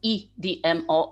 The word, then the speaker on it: EDMO: the part of so-called EDMO activity. If you don't mind, I will use Polish pronunciation of the abbreviation, so CEDMO and EDMO.